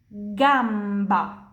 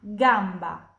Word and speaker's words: gamba: Jadi kata ini pronunciasinya punya gamba, gola, guanti, spaghetti. G più A, kaki, gamba.